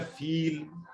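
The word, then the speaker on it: فيل: अच्छा, तो ये प्रोनाउंस होता है फील, और फा या लाम से है, और इसकी शेप ये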